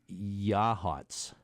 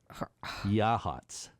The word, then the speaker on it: Yachats: They tell me it's pronounced Yahats. Yahats. Yahats.